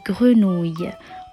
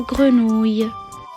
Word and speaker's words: grenouille: prononciation du mot et bien d'autres avec le même son, ouille. Il pleut, il mouille, c'est la fête à la grenouille. Alors répétez après moi, ouille et puis grenouille.